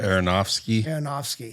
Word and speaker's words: Aronofsky: Aronofsky.